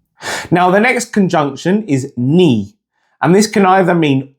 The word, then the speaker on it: ni: So the pronunciation is ni. Repeat after me, ni.